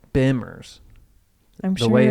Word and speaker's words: Bimmer: BMW cars are not called Beamers. They're called Bimmers.